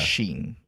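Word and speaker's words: Xin: X X I N which is Sheen.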